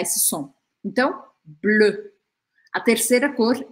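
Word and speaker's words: bleu: e azul em francês a gente fala blu blu esse som e não existe em português deixa eu te ensinar a fazer não precisa ter medo dele para você fazer ele você vai imaginar que você vai falar um o Mas você vai encostar a pontinha da língua ó aqui atrás dos dentes atrás por trás BL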